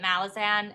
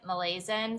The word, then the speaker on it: Malazan: you tried Malayan or malisan I think we say it Malazan and the British say say it Malaysian so I never know